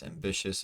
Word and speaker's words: ambitious: the first syllable stress ambitious is the Bish so now we're at